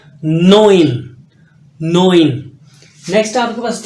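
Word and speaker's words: neun: जीबन नेक्स्ट आपके पास नाइन आखत आखत नाइन नोइन नोइन य नोया नहीं है मंगोल कमांडर नहीं है नोइन नेक्स्ट आपके पास न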